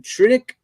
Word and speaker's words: Trunick: sleeping our special guest for tonight is tritic is that i pronounce it right yep you got it all